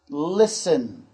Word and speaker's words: listen: Listen. L-I-S-T-E-N. Now, in this particular word, the T is silent. Silent. That means we don't hear that sound in this word.